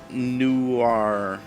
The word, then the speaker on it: Noir: So Russia says it's pronounced Noir.